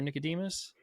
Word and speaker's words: Nickademus: or Nicodemus? You pronounce Nickademus just fine, so we can go with that.